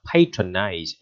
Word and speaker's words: patronize: Patronize, thấy cái động từ nó hơi bị biến âm ha, cái này đọc là patronage, còn đọc là patron, ok chưa?